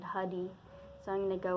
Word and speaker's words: Huddie: it's often been thought that his name is pronounced beauty but there was a recording once of him saying his own name in the middle of a song and he said hoody so I'm going to go with that pronunciation